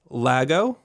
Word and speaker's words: Lago: in Europe I guess how are you pronouncing it this just for me for you I say Lago okay that's what I